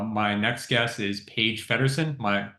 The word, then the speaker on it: Feddersohn: I have uh my next guest is Paige fedon am I pronouncing that last name correctly you got it